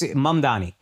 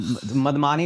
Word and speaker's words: Mamdani: pronounce Mamdani. It's really like just fucking insane. What's the Mamdani, it's just Mamdani. Mamdani and Madmani or whatever just happened.